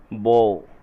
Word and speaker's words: beau: बो, इसका प्रोनाउंसिएशन है बो, BEAU, बो, प्रेमी।